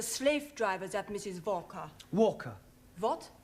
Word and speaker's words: Walker: driver at Mrs vka Walker what w is pronounced W your employer's name is Walker yeah vka do you